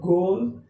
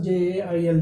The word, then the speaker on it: gaol: it's a meaning also j a i l g i so it's a sound of pronunciation you have to pronounce it properly jail not a goal it's a sound i